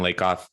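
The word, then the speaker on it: Lakoff: who am i lake off uh great job lou uh pronouncing it correctly it looks like lack of pronounced like blake goth um my background is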